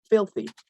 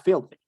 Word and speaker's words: filthy: palabra que se llama filthy. Bueno, más bien que es filthy. Se pronuncia así. Filthy. Filthy. Acuérdense que la TH es pronunciándola con tu lengua entre tus dientes y soplando, ¿sí?